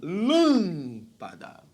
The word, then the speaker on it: lâmpada: É aquela cuja sílaba tônica não é a última, lâmpada, não é a penúltima, lâmpada, é a antepenúltima, lâmpada.